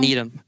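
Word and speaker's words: Needham: College of Engineering in Needle, Massachusetts. Did I say it right? Needle. Needm. Needm. Needm. Okay.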